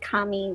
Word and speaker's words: kami: a different character for the word, but it's pronounced the same way, and the word is kami, which means paper, but it also means spirit or soul, if you will, as an interpretation.